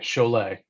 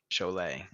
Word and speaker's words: Scholet: You just say Olay or show me Olay. Cholet. Cholet. I Now think of know. Bob Goulet, and that's how I never forget it.